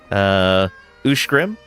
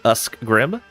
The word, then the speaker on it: Ushgrim: Ushgrim. And not Uskgrim.